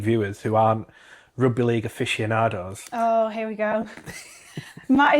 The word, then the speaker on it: aficionado: And then I got a voice note saying the word he was trying to say was aficionado. Which I just said. A big fan of. Matt pronounced it afficionado.